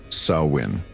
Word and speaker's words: Samhain: The Kelts called this transitional period Samhine, pronounced sawin.